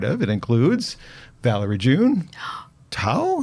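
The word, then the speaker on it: Thao: It includes Valerie June, Tao. Is that how she says her name? Tao. How do you spell it? T-H-A-O. Tao.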